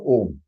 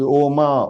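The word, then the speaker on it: ॐ: Half ma is So the pronunciation of this om is om, om, om, om, om. Many people are confused. In yoga, they say no, it is oma, oma, oma. And that is for exercise purpose, please.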